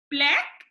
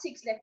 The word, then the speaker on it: 6LACK: And then it's spelled 6LACK. 6 Okay. lakh, but it's not 6 lakh, it's black.